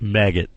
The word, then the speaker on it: Maged: His name was Maged, which pronounced maggot.